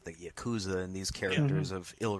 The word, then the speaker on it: Yakuza: yeah yeah yeah yeah it's because Japanese the way they work is the what's it called vowels are never pronounced differently everything should be pronounced the same so those are always oh you know hey is always a so right ya KU zhu